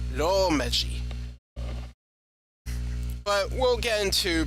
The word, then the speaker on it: romaji: It's not pronounced romaji or romaji or whatever. It's romaji.